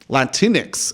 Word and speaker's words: Latinx: Latinx. It rhymes with Kleenex.